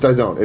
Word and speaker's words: Dyson: It's Dyson, right? Dyzone? Let's call him Joey Fatone Dyzone. It's Dyzone. Dyzone. It rhymes with the mustard.